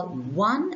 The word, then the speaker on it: one: a one rupee node the word begins with the sound w but the letter is o so a one